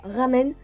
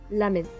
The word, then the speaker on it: ramen: D'ailleurs, permettez-moi de vous dire qu'on ne prononce pas ramen, mais plutôt lamen.